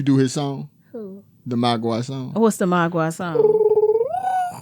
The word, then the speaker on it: mogwai: And he finds the mogwai.